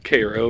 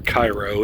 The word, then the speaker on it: Cairo: like welcome to historical cairo or cairo it's pronounced both ways it seems gateway to the south